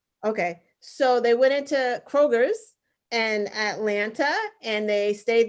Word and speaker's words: Kroger: So they went into Kroger's in Atlanta and they stayed there for 2 hours and they paid for everyone's groceries.